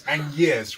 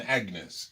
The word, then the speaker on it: Agnès: And like l'amour, I pronounce Agnès rather than Agnes. Exactly. Yeah, because Agnes is so old-fashioned for us, but in France it's still very popular.